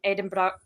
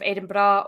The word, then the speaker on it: Edinburgh: Mostly just every now and again, I'd have little wind up videos of, like, Americans pronouncing Edinburgh that way instead of Edinburgh, or Glasgow instead of Glasgow.